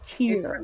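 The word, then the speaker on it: Kyre: it's here it's here it's spelled k-y-r-e no k-y-e k-y-r-e but you say here like yeah okay and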